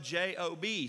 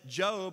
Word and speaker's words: Job: so much attention and his name is spelled j-o-b so until i said job everybody thought it was job right that's the way